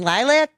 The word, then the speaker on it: LYLVC: We're going to play Barely Human by the band Lilac. And you spell it LYLVC, Yep, correct? V instead of A, baby.